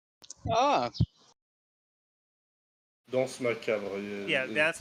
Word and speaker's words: danse macabre: The second one, Dancer Macabre. Oh, Danse macabre. Yeah, Dance it's Macabre. supposed to be pronounced.